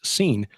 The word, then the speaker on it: Sin: the moon God called seen that's spelled s i n but pronounced scene with establishing his dynasty